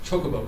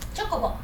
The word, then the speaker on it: Chocobo: I say it yeah it's pronounced Chocobo correct Chocobo yeah and then I'm I'm